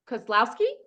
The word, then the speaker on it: Kozlowski: right so um Jessica I pronounced your name Koslowski yes but you have a